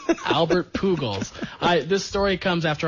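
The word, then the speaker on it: Albert Pujols: all right phol ties Angels club Rec it's pronounced Albert pugal P that's right uh ties the Angels club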